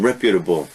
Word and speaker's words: reputable: Reputable, notice the pronunciation, reputable.